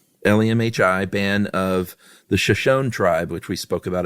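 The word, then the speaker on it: Shoshone: Is it Shashon or Shosonyi? Shosonyi. Is it Shashony? That's what I've always heard, but then again, I always heard it was Saka Ja, too. I know. I believe it's Shony.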